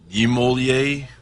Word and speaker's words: Niemöller: How do you pronounce it? Niemöller.